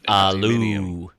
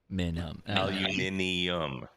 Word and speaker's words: aluminum: Oh, because I guess alu versus aluminum. Aluminium. We say aluminum. They say aluminium.